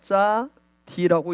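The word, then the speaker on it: צדי: 가지고 있습니다 숫자값은 90이에요 짜디는 소리나는 대로 읽으면 짜 d라고 읽습니다 즉 자비는 의의 문을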